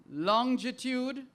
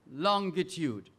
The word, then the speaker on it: longitude: and that word is either pronounced longitude or longitude longitude low end i